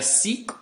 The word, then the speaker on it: Sikh: countries where we find Sikhs today a Sikh or Sikh means a disciple in